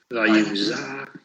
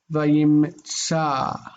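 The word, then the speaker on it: וַיִּמְצָא: Vayimza ish et Yosef. Okay, we got to correct that sound right there. The Vayimtsa.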